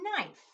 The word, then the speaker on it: knife: The next word is knife. Again, that K is there, but we don't hear it. Knife.